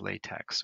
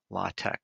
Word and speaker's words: LaTeX: type the equation in something known as LaTeX or LaTeX or LaTeX. It's spelled like L-A-T-E-X, and I like to call it LaTeX because that's what it spells.